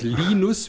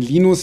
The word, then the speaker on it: Linus: von Anglizismen protokollarisch festgehalten, dass der Name nicht Linus, sondern Linus ausgesprochen wird, weil so der zweite Papst hieß.